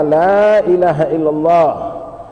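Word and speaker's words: لا إله إلا الله: La, itu boleh panjang, la ilaha, hanya jangan dipanjangkan. La ilaha illallah, Allahnya boleh dipanjangkan, la-nya, lam nafinya dipanjangkan boleh, tapi ha jangan dipanjangkan. Ya, kadang ada orang, maaf ya, salah pengucapan Pak, ya, la ilaha illallah, nah, itu salah ya, hanya jangan dipanjangkan. Lam alif boleh dipanjangkan, kemudian lam lafzul jalalah Allah boleh dipanjangkan.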